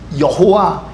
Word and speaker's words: 여호와: am Who I am 이거를 영어로 스펠링화하면 yhwh라고 하는 4개의 자음으로 표현하게 되어 있습니다 여러분 이걸 어떻게 발음하시겠어요 자음만 있으니까 발음할 수가 없는 겁니다 그래서 이스라엘 사람들은 그 히브리어에 모음을 넣어서 야훼 여호와 이렇게 발음하는 것입니다 그러나 그들은 절대 여호와라고